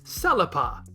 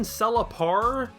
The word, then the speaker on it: Selypa: Pasari doesn't feel the need to use that extended ah sound, and while pasari sounds close enough to parsley, saying Selypar sounds like a bit of a departure from Seripa, so let's just leave it at Selypa.